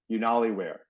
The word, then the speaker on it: Unaliwear: know so it sounds it sounds like YouTube so it's unware but it's spelled okay u n a l i w e a r unali Weare okay and I'll I'll